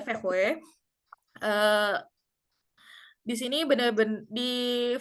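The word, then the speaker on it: Växjö: Eh, ini tulisannya Faxjo tapi di belakangnya Fechue. Bahasa Swedanya Fechwe.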